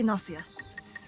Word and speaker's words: Gnosia: I think it's pronounced the way Nosia is usually pronounced. At least that's how I say it. In that case, I would say Nosia, like agnostic green, of course.